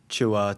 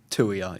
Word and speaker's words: Tuia: I get the lot but um yeah, for the record Tuia is the correct pronunciation. So so you said you tell me it was So it's the number two and then ear.